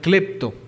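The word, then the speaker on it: κλέπτω: tradujo con una palabra que se pronuncia clepto clepto por ejemplo en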